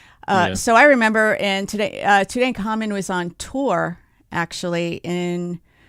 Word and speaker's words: Tutankhamun: So they stopped in 1908, but then do you guys remember, tell me how to pronounce this. Is this Tutankhamun or Tutankhamun? Tutankhamun.